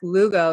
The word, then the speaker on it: Lugo: am joined by derek lugo is that how you say your last name by the way oh yes rhymes with uh hugo perfect okay so here